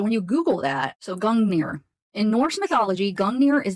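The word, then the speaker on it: Gungnir: Norse mythology so we have gungir old nor pronounced gungir oh cool I was pronouncing it right is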